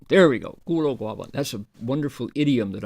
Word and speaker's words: 孤陋寡闻: 孤陋寡闻. There we go. 孤陋寡闻.